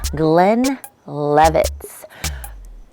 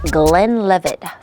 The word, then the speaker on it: Glenlivet: so tonight we are getting into glenn levitz let me say that again because i might not have said it right and it's gonna come a point through this history lesson of this whiskey that i need to say it right so tonight we